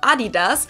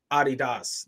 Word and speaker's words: Adidas: called Puma, which became the biggest rival of Adidas.